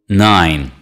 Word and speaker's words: nein: after me neither neither nein nein this work contains only one syllable nein repeat after me